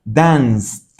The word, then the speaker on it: danced: Entonces esta ed la pronuncio como una t y me queda danced.